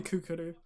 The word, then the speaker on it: Kukuru: no no no no it's definitely kookaroo and yeah cuckoo is